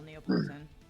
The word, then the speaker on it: Neapolitan: Trying to remember how to spell Neapolitan. Neapolitan? Politan? Is that the correct way to spell it? I think so. N-E... Oops. N-E-A... Well, Neapolitan. It's not Neo, it's Nia.